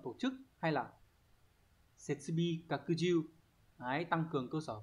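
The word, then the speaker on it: 拡充: Đọc là kakuju.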